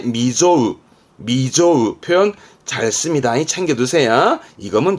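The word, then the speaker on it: 未曽有: 합니다 하지만 시험 때 이게 나옵니다 미증유 미증유 발음은 미조우 발음이 중요합니다 보통은 소홀하지만 이때는 특이하게 하기 때문에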